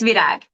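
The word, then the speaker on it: Virág: Is it Virag, Vira? It's Virag.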